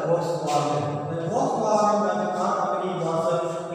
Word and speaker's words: Volkswagen: Actually, it is pronounced as Volkswagen.